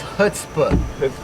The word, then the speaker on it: Chutzpah: What's your I know it, but I don't know how to pronounce it. I changed it. Chutzpah. It's Chutzpah.